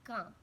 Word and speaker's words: calm: D, be calm. L is silent in calm.